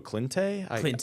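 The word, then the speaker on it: Cijntje: I think it's just Gerangelo Clintay. Okay. I could be wrong, but it's C-I-J. I think we ignore the J in the pronunciation.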